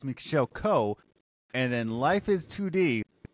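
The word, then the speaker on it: Michel Koch: He just says it comes across as Co, but I think it's pronounced Coke.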